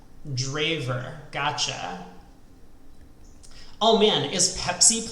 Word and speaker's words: Drijver: like this is exciting for the record it's pronounced draver draver gotcha oh man is